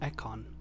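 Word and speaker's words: Ekon: that you shall remain oh that's how it's pronounced eckon okay are you an econ too yes i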